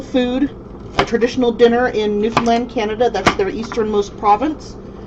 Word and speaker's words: Newfoundland: pronounced newfoundland it's not newfoundland it's not newfoundland it's newfoundland understand rubber band that is where my